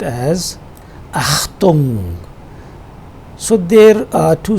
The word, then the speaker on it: Achtung: This one is pronounced as Achtung.